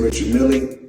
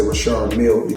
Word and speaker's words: Richard Mille: Now, I must let everybody know cuz everybody pronounce it different. Some say Richard Mille, myself I say Richard Mille.